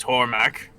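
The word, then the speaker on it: Hormek: was that was amazing right my name is hormac por mack okay oh hor hormac r h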